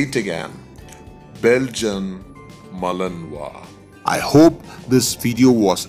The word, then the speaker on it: Belgian Malinois: also sometimes as belgian malinois however the correct pronunciation of this dog breed is belgian malinois i'll say it again belgium malinois i hope this video was informative to you